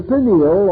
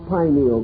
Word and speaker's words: pineal: years of passed uh the pineal or pineal gland either pronunciation is correct located in the central